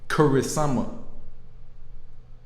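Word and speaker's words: クリスマス: What they pronounce is Kurisumasu.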